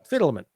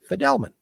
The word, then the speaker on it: Fidelman: We had been pronouncing the name wrongly. The right name to pronounce the name is Fidelman. Fidelman.